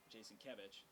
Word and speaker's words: Jasinkiewicz: That's Jason Kevich. I have a knack for mispronouncing his name because it looks like Jasinkiewicz, but nope.